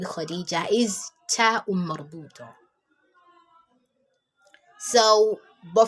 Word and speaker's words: Khadijah: So, but for easy, you can't just say Khadijat. So you have to say Khadijah. So there you represent it with ta marbuta, but the pronunciation will be that of ha.